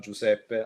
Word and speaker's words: Giuseppe: home family run it's three siblings uh roberta giuseppe like me and uh christina hang on timeout real quick before you continue you just said giuseppe giuseppe yeah if i've been saying your wrong